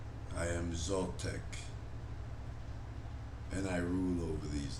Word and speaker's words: Zaltec: this deep purring growl that says i am zoltec and i rule over these lands spell that t z-a-l-t-e c and say to it